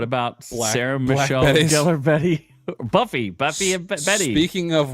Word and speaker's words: Gellar: It's gellar. Thank you very much. No, it's not. It's not? No, are you serious? What do you mean? It's Gellar. It's not Galar. It's gellar.